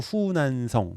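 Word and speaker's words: 湖南: 큰 호수들이 있는데 고기에 호수의 남쪽 남쪽이 호 남성 해 갖고 후난성 중국식 발음으로 그러고요요 북쪽에 있는 거 호북성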